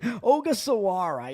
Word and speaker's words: Ogasawara: as they are starting Shinosuke Ogasawara. Is that how you pronounce it? Ogasawara, yeah. I'm like, wait a minute, there are some extra syllables in there.